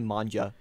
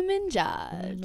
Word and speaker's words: Minaj: My English teacher called Nicki Minaj Nicki Manja one time. Nicki Minaj. And I was like how do you say it that wrong?